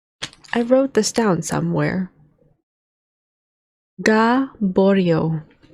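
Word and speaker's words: Gaboriau: Gaborio. Yes, that's how it's pronounced.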